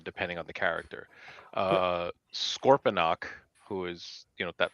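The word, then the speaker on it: Scorponok: Sometimes it sounds like Scorpionox with an X at the end.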